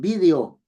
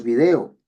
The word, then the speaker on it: vídeo: Los españoles dicen vídeo, nosotros video, etcétera.